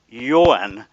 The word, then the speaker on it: Johan: And Johan, which is Owen with a Y in front.